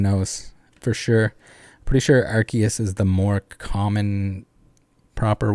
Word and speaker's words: Arceus: a little off mars arceus with a soft sea not arceus i will die on